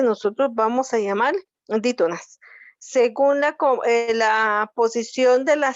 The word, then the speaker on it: según: Si yo divido la palabra según, voy a tener dos sílabas, se y luego gun. Última sílaba, penúltima sílaba. Y está acentuada en la última sílaba, por eso se llama aguda.